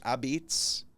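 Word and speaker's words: apizza: Abs. Abs. A pizza is how it's spelled. Oh. And it's a New Haven way of saying pizza.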